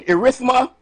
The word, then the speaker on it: erythema: Erythema multiforme. E-R-Y-T-H-E-M-A. E-R-Y. Hear the spelling again. E-R-Y-T-H-E-M-A. Multiforme, like M-U-L-T-I-F-O-R-M-E, but it's pronounced forma.